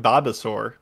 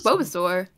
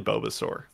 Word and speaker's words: Bulbasaur: this one comes from babasaur did i say it right this time instead of both that was bobasaur it's probably i don't know it's probably bulbasaur i always mess it up howdy aaa host